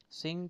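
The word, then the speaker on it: sing: ङ साउंड आपको जो है सिंग के लास्ट में मिल जाता है, लास्ट साउंड है जो सिंग के अंदर एन जी का साउंड वो ङ साउंड है।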